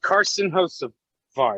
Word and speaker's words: Carson Hocevar: I got to go with Carson Hocevar.